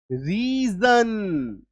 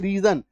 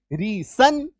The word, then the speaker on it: reason: रीजन। क्या बोलते हैं? रीजन। अब एस है तो इसका उच्चारण स होना चाहिए, रीसन। रीसन नहीं, रीजन। तो एस का उच्चारण कभी स तो कभी ज, ये सब स्पेशल साउंड